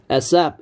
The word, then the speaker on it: ASAP: ASAP 이래 ASAP. Please call me ASAP. ASAP이 as soon as possible을 ASAP이라고 실제로 발음합니다.